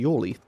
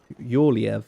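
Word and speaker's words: Jorleif: Right, so let's go speak to Yorleif. Yorleif or Yorleif. It's interesting because the name, you can actually pronounce it either way.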